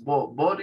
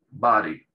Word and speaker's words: body: La O se abre tanto, se abre más la boca para pronunciar la O en inglés americano, tanto que ya pasa a parecer una A. Si ustedes hacen la prueba, van a ver que casi que se convierte en una especie de A.